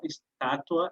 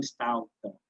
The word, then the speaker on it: estátua: Então, a tendência é a gente transformar, por exemplo, a palavra estátua, que é proparoxítona, a sílaba tônica é a antepenúltima, vira estalta, em que o U vira uma semivogal e ela vira uma paroxítona.